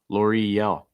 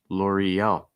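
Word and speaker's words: L'Oréal: mercedes for your car l'oreal laurie yell i think a key thing here is the e-l e-l so linking that e sound with the l sound with that slate y e-l l'oreal l'oreal nestle so and american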